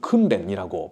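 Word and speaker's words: 訓練: 일본에서 제자 훈련의 목회를 한다는 게 여간 어려운 일이 아니라는 것을 일본말로 제자를 대시라고 발음하고 훈련을 큰렌이라고 발음합니다.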